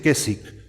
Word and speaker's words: Keswick: En el evangelicalismo se desarrolló toda una forma de ver que hoy se llama la teología de Keswick, se dice Keswick, se escribe Keswick con K y W, Keswick, teología de Keswick.